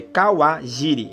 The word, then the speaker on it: Kawajiri: É Kawajiri. Esse é o nome é a pronúncia, né?